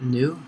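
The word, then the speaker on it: Helvetica Neue: So Helvetica, the new, I guess that's how you say it, new, there it is, bold, 38.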